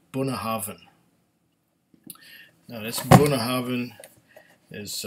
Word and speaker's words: Bunnahabhain: it wrong I mean the first time I saw it it was Buna habob Haan but it's not bah habh it's buah havan now this buah Haven